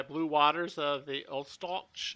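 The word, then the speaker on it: Ustaloch: waters of the old stalch it's a germanic pronunciation u-s-t-a-l-o-c-h it's kind of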